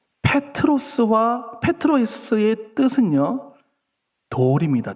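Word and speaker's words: Πέτρος: 자 그러면 다시 베드로의 이름의 뜻은 아까 제가 페트로스라고 그랬습니다. 발음이 페트로스와 페트로스의 뜻은요 돌입니다.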